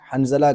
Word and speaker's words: حنظلہ: انہوں نے صحیح کی کہ حضرت حنجلہ نہیں ہے، حنظلہ کہی۔ اور اکثر ایسا ہوتا